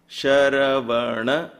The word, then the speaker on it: Sharavana: Above the S, there is a stroke, so it becomes sh, not s. Sha, ra, va, na, bha, va. Sharavana bhavaya namaha.